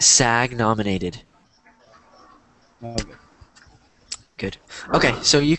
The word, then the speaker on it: SAG: the a a is isn't a word so it's s sag yeah sag yeah you could just say sag nominated is that how